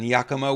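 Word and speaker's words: Yakima: guys were so cool to be there in Yakama Washington I hope I I pronounced that right yep okay that was great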